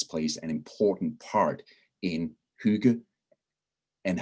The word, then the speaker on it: hygge: a couple of times the two g's kind of create a soft sound and my definition of